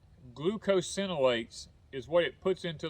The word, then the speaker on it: glucosinolates: words but i think i think the correct pronunciation is glucosinolates is what it puts